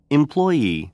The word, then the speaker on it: employee: 강세가 뒤에 있으니까. employee, 다시요. employee, 그러니까 employee가 아니라 employee, employee 이렇게 employee 종업원 이렇게 종보다 종업원 이렇게 올라가요.